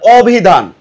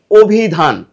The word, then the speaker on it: অভিধান: যে অভিধান এখানে অান অবিধান কিন্তু না অভিধান হবে না এখানে হবে অভিধান অর্থাৎ এই যে অই অধনির পরে কি আছে ইকার আছে অধনির পরে যদি ইকার থাকে তাহলে কি হবে তারপরে আদ্য অর্থাৎ প্রথমে যে অটা থাকবে এই ওটা হবে অটা কি হবে ও